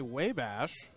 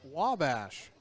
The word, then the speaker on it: Wabash: earlier i think i called college in illinois way bash it was informed by someone who's very wise much wiser than maine's actually my father that it's pronounced wabash i will have to get him something really